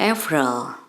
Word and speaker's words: April: persis dengan bahasa Indonesia hanya pengucapannya saja dalam bahasa Indonesia kita ucapkan April di sini kita ucapkan efral mah kemudian bulan yang